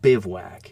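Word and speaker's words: bivouac: That's pronounced bivwack.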